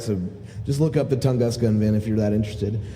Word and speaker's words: Tunguska: This last release, and let me see, Tunguska.